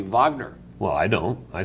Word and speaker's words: Wagner: you don't sit no shame you don't say Wagner the great composer Wagner you say vogner well I don't I say Wagner well you're